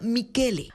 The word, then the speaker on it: Michel: más cercanos explican que ni siquiera se pronuncia Así que este Michel se pronuncia mikele Así que el nuevo ministro de gobierno del Ecuador se llama mikele sensi con tugi es